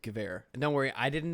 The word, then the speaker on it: Gewehr: Up top, we have the Gewehr 98 Sharpshooter. That's how you pronounce it, Gewehr.